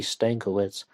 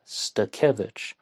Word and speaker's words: Stakevich: I first referred to her as Melody Stankiewicz, but someone of Polish descent told me it's pronounced Stakevich.